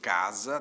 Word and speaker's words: casa: Casa, todo mundo sabe, se escreve com S, e azar se escreve com Z. O S de casa e o Z de azar têm o mesmo som, ou representam o mesmo som, na verdade, né?